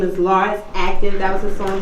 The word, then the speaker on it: Lars: It's your boy Lars.